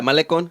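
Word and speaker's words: Malecón: Yeah, Malecon.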